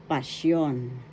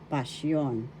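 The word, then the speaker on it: pasyon: And the sixth one is passion, passion. First syllable pas, second syllable yon. The accent is in the second syllable passion.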